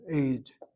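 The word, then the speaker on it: עֵד: The word ad, spelled with a patach hanit ayin. If the word were spelled without vowels, the ayin dalet can spell another word, aid. Aid is the Hebrew word for witness. Ad is until, and aid is a witness.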